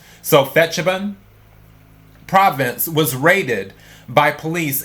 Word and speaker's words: Phetchabun: I'm going to say Phetchabun, P-H-E-T, so I'm guessing that's Phet. So Phetchabun province was raided by police and health officials on Monday.